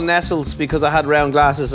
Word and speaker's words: Nestlé: Nestle's a nice coat it's actually pronounced Nestle you keep going back